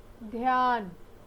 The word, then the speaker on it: ध्यान: ध जोड़ या जोड़ न, ध्यान। आप यहाँ देख रहे होंगे ध्यान, आधा ध और य यहाँ पर संयुक्त अक्षर है, इसलिए हम ध का उच्चारण आधा कर रहे हैं और य का उच्चारण पूरा कर रहे हैं।